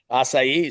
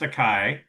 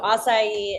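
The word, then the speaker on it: açaí: It's not pronounced a Kai. It's funny to hear people try to pronounce it. We'll do a funny video with that later. But so acai is a superfruit that's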